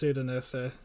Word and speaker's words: Udinese: It is Udinese. You were saying it correctly originally.